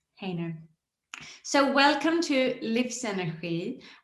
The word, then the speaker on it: Haner: thank you so much so is correct haner is how my last name is pronounced haner so welcome to live center our channel for